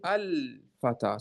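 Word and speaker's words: الفتى: We say al-fata. So you remove the tanween. Again, it stays with the fata.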